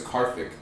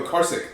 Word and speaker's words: Karthik: His name was Karthik. And I was fresh off the boat, right? Just came from China, and I couldn't pronounce like a lot of letters. I was like, "Yo, Karsik."